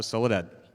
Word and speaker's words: Soledad: So Spanish names have this thing where most of the words have the stress on the last syllable. So it was like coaching Mark with like ta ta ta ta ta ta. That's how you say my name, and it actually worked.